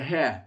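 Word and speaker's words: ה: That's the heh. It's your Hebrew H sound.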